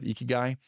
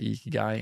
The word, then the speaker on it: ikigai: And with the last component would be like something I got introduced to recently is the Japanese philosophy of ikigai, which is it's spelled Ikigai, ikigai.